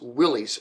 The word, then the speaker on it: Willys: And his cars are typically pronounced Willys by those in America.